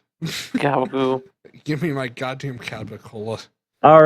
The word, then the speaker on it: capicola: Give me my goddamn Capicola. All right. What the fuck? I didn't know for the longest time that gabagool is just the horrible, horrible mispronunciation of capicola, and that is fucking painful.